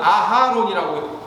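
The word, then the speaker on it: אהרן: 아론이 대제사장이 되는 모세의 형 아론과, 아론은 아하론이라고 불러요, 히브리어로.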